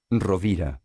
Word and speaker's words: Rovira: Així tenim la pronunciació de Rovira. Rovira.